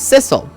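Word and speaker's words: Sissel: sorry I'm not missile my name's sisle which rhymes with missile sisle my name is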